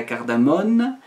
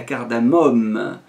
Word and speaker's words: cardamome: cardamome alors attention hein pas la cardamone mais la cardamome bon une petite faute de prononciation que font beaucoup de gens mais enfin ça c'est